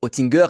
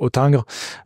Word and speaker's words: Hottinguer: différente d'ailleurs euh est autingre voilà donc en France plutôt dire otingre mais les deux se comprennent très bien la banque otingre est